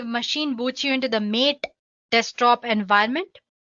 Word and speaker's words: MATE: boots you into the mate desktop environment let me pronounce it m a you can call it whatever you want mate or mate desktop environment so as you can